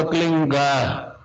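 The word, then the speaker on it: क्लीं: एक शब्द क्लीन शब्द क्या आधा ला में मिला हुआ, बड़ी की मात्रा और बिंदी, उसका उच्चारण होगा क्लीन गा। गा की ध्वनि निकलेगी पीछे।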